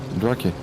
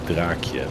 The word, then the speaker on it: Draakje: No, in Dutch we pronounce it draakje with a longer a.